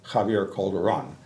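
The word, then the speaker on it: Javier Calderón: And Javier, I should say it correctly, Javier Calderon.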